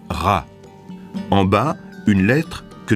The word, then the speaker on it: Ra: du soleil et champolon sa qu'en copte il se prononce RA en bas une lettre